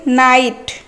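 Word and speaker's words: knit: Next अछि नाइट नाइट हैला बुणीबा हाथ रे बुणीबा जो हाथ रे बुणंती सेटा कहंती कोन नाइट। आमे को नाइट कहउचंती केटा होची उच्चारण क को बुझौची आमे को काइट कहउचंती आमे कोन पढचंती नाइट कहउचंती ताने केटा रहिला साइलेंट।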